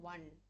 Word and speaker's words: one: one man show so when you are pronouncing the word one the spelling is o n e okay it starts with a w alphabet but what is the sound that you're giving one one so it you are